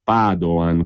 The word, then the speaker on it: Padoan: So bene che alla fine sembra che non sia successo nulla, dice il ministro Padoan con l'accento sulla prima A, ma in realtà è successo qualcosa, cioè si è impedito che la situazione peggiorasse ancora.